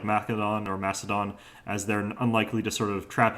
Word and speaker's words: Macedon: by turn today we're on macedon or mechadon as they like to pronounce it in this game and uh this